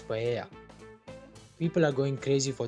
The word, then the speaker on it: paella: I can smell seafood, and people are lining up for a taste of bomba paella, but in Spanish it is pronounced as paella.